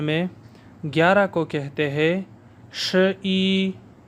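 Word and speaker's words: 十一: 100 تک چائنیز زبان میں ہند سے صحیح تلفظ کے ساتھ پڑھنا سیکھیں گے۔ چائنیز زبان میں 11 کو کہتے ہیں ش ای، ش ای، ش ای، ش ای۔ ش 10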